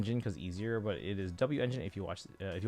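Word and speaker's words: W-Engine: So, 100% of you say it's pronounced W engine because I've heard a few people say wen.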